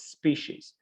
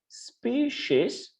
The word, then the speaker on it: species: these words species uh there are two types of pronunciation we can say species or we can say as well speed cease species there are no mistakes okay boss of um boss ways are acceptable okay so species but actually it's more commonly used species but also you can pronounce as species species okay so uh before